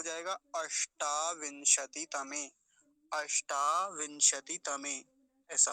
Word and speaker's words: अष्टाविंशति: अगला देखेंगे अष्टा विंशति, अष्टाविंशति, अष्टा में मूर्धन्य शकार, अष्टा विंशति, विंशति, अब एक तो